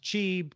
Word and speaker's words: Qi: here because why we we spell Qi with a Q I don't quite understand what the wireless power consortium does say and they manage the standard that it should be pronounced cheap because yes it is based on the Chinese character all right SQL in